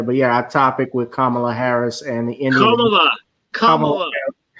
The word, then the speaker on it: Kamala: You know what you're just doing when you say Kamala, you make it sound like it's one of those ghetto bitch last first names. You're making her Black, mispronouncing her name. It's Kamala. Kamala. That's Kamala, like come out your dick.